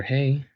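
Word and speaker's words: ה: So the letter HEY is an aspirate, its pronunciation is a breath - a mere exhale, as in /h/, you hear it at the start of words like 'happy' or 'hold', and you can use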